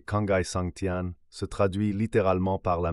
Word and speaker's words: 沧海桑田: capture cette transformation même l'expression sa sandian prononcée kangai santian se traduit littéralement par